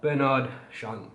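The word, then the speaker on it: Bernard Chant: behind this scent is bernard shant i believe that's how he pronounced his name let me just double check yeah bernard sean and a fragrance which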